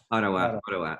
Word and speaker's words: Ottawa: from vancouver to otawa yeah it's how you pronounce it otawa ottawa ottawa okay so you're now uh there so um